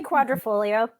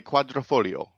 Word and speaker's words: Quadrifoglio: I would say quadrifolio. I think a Foglio or Folio. I've heard it both. Is it Yeah. Folio? Okay, Quadrifoglio.